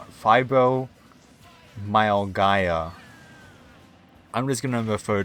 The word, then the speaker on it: fibromyalgia: Fibromyaga. Wait, there's an L in there. God damn it. Fibromyalgia.